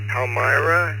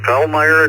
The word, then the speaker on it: Palmyra: And am I pronouncing this right? Right. Palmyra, New York. Uh, good evening. And yes, that's perfect. Palmyra, New York.